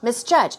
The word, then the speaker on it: misjudge: guess unpleasantly severely misjudge misjudge stress goes on the second syllable okay so these